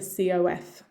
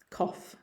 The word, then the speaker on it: cough: have here cough cough again half the letters do not represent the actual sound of the word and think of it as a cof cough cough now with my british